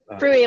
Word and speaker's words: Fruy: So anyway, without further ado, let me introduce Sarah Fruy, right? Fruy. Fruy, like rhymes with Louis.